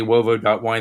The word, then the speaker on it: Uovo: but I mean, if you go to wovo.wine, the purpose of this is not, frankly, to plug us, but I mean, look, and people, when I say wovo.wine, they're gonna start with a W.